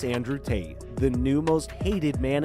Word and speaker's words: Tate: It's not pleasant to hear and it rhymes with fate. Can you guess who it is? It's Andrew Tate, the new most hated man in the world.